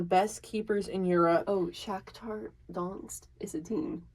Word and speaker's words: Shakhtar Donetsk: Shakhtar Donetsk.